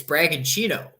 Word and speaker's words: Bragantino: I just found out in the Brazilian league that the TI makes a ch sound. Like it's Bragantino and it's Coritiba.